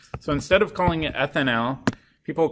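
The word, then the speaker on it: etanal: Ethanal. You can imagine that gets pretty tricky. You have to pronounce it super clearly with an al suffix, otherwise people think you're talking about the alcohol.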